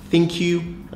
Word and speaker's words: ThinQ: Yes, it's pronounced ThinQ like thank you.